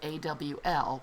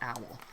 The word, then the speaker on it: awl: It's spelled A-W-L, but it's pronounced awl, not owl.